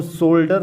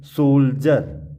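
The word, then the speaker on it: soldier: इसको हम सोल्डर नहीं पढ़ेंगे, सोल्जर, सोल्जर। डी के बाद आई ई आर, आई ई आर।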